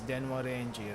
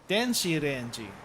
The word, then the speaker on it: 電子レンジ: I'm pretty sure this one is denwa renji, right? 電子レンジ Denshi renji. Denshi renji.